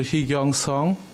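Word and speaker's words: Heekyung Sung: sworn an oath yeah my name is a heong song could you spell it for us h e e k y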